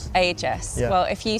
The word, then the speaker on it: Agius: I I say Aegis. Aegis. Ages.